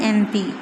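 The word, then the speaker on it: MP: Examples N एम पी। अब एन एम पी, यहाँ पे एम पी जो दिया the consonant एम पी is pronounced as एम।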